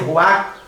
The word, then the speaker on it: ruach: no hebraico é ruach, com CH no final, ruach, não se pronuncia o CH, só se pronuncia ruach.